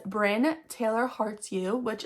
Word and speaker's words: Bryn: It's Bryn, Brynne, but most people say Byrne or Bryony or.